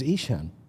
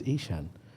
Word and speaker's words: Eshaan: helpful I said yeah sure my name is isan and she said sorry I said my name is isan she say how do you spell that I